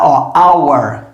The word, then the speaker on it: our: pessoas erram demais isso ao ar é a mesma pronúncia da palavra hora o que a palavra hora começa com h mudo tá our our que significa nosso